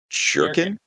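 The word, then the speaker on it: Bjerken: played the bully and his real name is braxton jerking yeah that's the bully b jerkin it's spelled b j e r k e n i had a good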